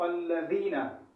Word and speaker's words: الذین: ہو، اسے بچنا چاہیے۔ یہاں ذال میں صراط الذین، یہ ذال جو ہے باریک لفظوں میں سے ہے، اس کا مخرج الگ ہے، اور زا کا مخرج الگ ہے، زا کا مخرج الگ ہے، ضاد کا مخرج الگ ہے. تو یہ کوئی بھی لفظ یہاں پر آپ نے ادا نہیں کرنا ہے، بلکہ ذال کو ادا کرنا ہے، یہی آواز آپ نے نکالنی ہے.